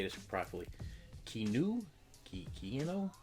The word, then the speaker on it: Keanu: Keanu? Keanu?